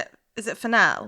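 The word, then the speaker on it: Fennell: Is it fennel? It's fennel, yeah, emerald fennel. And I just said it like it was the herb fennel.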